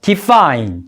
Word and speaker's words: define: 이 define이라는 단어의 발음을 보면은요, D는 디귿으로 발음되고 E는 단어의 끝에 E가 오기 때문에 E로 발음이 됩니다. 그리고 F는 F 발음이 나고요. I는 단어의 끝에 E가 오니까 I로 발음이 됩니다. 그리고 N은 니은. 그래서 define이라고 발음이 됩니다.